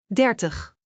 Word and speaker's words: dertig: Dertig .